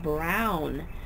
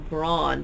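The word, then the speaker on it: Braun: introduces the book and she pronounced it Lillian Jackson Brown I am almost positive I've always heard it lilan Jackson Brawn but I'm going to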